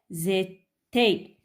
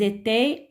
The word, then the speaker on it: étaient: Il et elles étaient. Alors, E, N, T ne se prononce pas. D'accord? Bon, je répète. J'étais, tu étais, il était, on était, elle était. Nous étions, vous étiez, ils étaient, elles étaient.